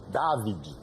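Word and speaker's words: Davide: David é David porque é italiano.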